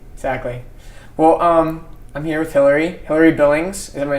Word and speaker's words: Hilary Billings: Well, I'm here with Hilary Billings.